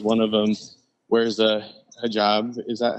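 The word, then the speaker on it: حجاب: Hijab or hijab? Hijab is how you say it with an Arabic accent.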